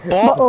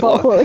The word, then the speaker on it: bottle: He said butthole again. Bottle. Butthole. No, there's no. Don't pronounce the T's. Bow. Bottle. Bow. Bottle. Bow. Okay, you're saying it like bowl. Just say it like bot and then oil.